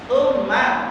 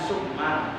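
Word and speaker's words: ثُمَّ: Tsumma, bukan summa.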